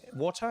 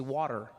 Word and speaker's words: water: Water. In American you say water, right? Water. Yeah. I say water because there's a t in the word, right?